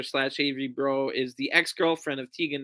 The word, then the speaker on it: Breaux: Pierre is her opponent, but we last saw her on AEW against Chris Statlander as Avery Bro, but Bro spelled like Breaux, so from the Bayou in Louisiana.